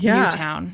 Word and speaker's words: Newtown: That's the only reason I knew how to pronounce Newtown. Yeah. Because to me it looks like Newton.